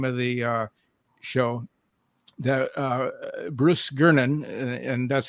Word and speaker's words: Gernon: That Bruce Gernon, and that's how his name is spelled or pronounced.